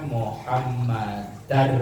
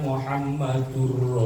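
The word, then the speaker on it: مُحَمَّدًا: Anna huruf eh kalimat setelah Anna itu harus dibaca fathah karena Anna itu termasuk Amil nawasib Amil nawasib itu huruf nasab maka bacanya wa asadu anna muhammadar rasulullah kalau Ashadu anna Muhammadur Rasulullah dari sisi bahasa keliru karena depannya ada huruf Anna Anna atau Inna maka kalimat belakangnya itu akhirnya dibaca fathah dibaca nasab maka cara membacanya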